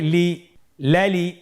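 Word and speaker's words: ل: পরবর্তী হরফ লাম, উচ্চারণ সহকারে হরকত দিয়ে বলুন লাম জবর লা, লাম জের লি, লালি, লাম পেশ লু, লালি লু।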